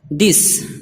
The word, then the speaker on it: this: Number 4, اور کبھی کبھی دا کا تلفظ ہوتا ہے یعنی TH ہو تو کبھی تو تھا کا تلفظ ہوتا ہے اور کبھی دا کا تلفظ ہوتا ہے. جیسے اگزامپل ہے دس دیکھیے TH ہے پھر بھی اس کو پڑھ رہے ہیں دا.